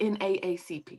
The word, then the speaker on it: NAACP: say that no more it's supposed to be n aacp oh that's the proper way okay yes that's a proper way to say it uh but you know